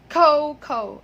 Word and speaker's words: cocoa: So the next time you use that word, please say cocoa. Okay? Like Cocoa Crunch. Okay, not that.